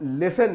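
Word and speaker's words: listen: pronunciation पता होना चाहिए इसमें टी यहां पर मिडिल ऑफ डी वर्ड होता है लेकिन इसका उच्चारण या इसका प्रनंसीएशन नहीं किया जाता लिसन और लिसन के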